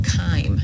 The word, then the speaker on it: chyme: it into a liquid substance, which we call chyme. It's spelled C-H-Y-M-E.